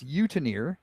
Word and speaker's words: Eutenier: It's Utenier, and it's spelled Eutenier.